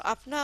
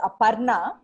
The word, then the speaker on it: Aparna: So, Apna, I'm going to hand over to you. Yeah, so thanks a lot, Cindy, My name in India is pronounced as Aparna, but when you say Apna, it means mine.